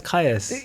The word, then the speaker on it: Kayas: I'm like, it's Kayas. Yeah, it's how it's Just spelled.